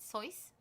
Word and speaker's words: Seuss: I think you should pronounce it Seuss.